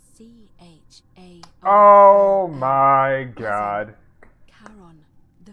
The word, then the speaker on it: Charon: Just as you described it, only your pronunciation is a little off. The name you heard wasn't Karen. It was C-H-A-R-O-N.